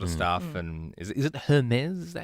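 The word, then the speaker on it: Hermès: And is it Hermes? Is that how you say it? Hermes, yeah.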